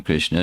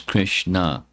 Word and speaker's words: Krishna: Krish there's two syllables Krishna Krishn means to attract.